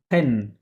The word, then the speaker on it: venaient: les touristes, touristes হুম, venaient, Pen. Pen. Pen. হুম, venaient de Pen, Pen. Only Pen. Pen, PRENN. হ্যাঁ, ENT তো silent, তাই না?